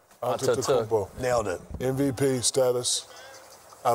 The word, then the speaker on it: Antetokounmpo: Well, Giannis Antetokounmpo. Is that correct? You forgot a syllable right in the middle. Antetokounmpo.